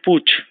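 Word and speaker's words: putsch: to be po p u t s the pronunciation is Pooch the spelling is p u t s h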